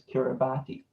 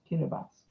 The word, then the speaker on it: Kiribati: kiribati before i said everyone would think it was kiribati while the t and the i make the s sound so it's kiribati get a bus if